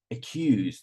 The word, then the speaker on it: accuse: them except four are stressed on the second syllable like accuse accuse so will be um